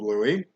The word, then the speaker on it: Louis: the angle of louie now it looks like lewis but we pronounce it louie okay so here's the